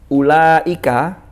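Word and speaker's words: أولئك: Makanya kalau kita nemu lafadz ulaika, kenapa di situ ada wawunya tapi kok tidak dibaca panjang? Itu hanya rosem untuk membantu bahwa itu bacanya ulaika.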